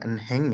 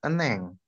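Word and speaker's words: 은행: Bacanya jangan enheng ya, tapi eneng. Oh ya, eneng. Hmm. 잘했어요. Jadi kalau huruf hiet terletak di antara huruf yang lain, itu nggak usah dibaca, nggak apa-apa ya.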